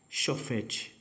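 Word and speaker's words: שופט: é chopete hebraico moderno a pronúncia é choft chupete ou chochoffet chefe é chefe é juiz tá que é um como é juiz em hebraico choft com f de faca choft Ok então é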